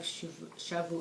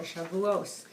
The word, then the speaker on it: Shavuot: So, upcoming is going to be the holiday of Shavuot, or Shavuos. Depends how you pronounce it, BeEzrat Hashem.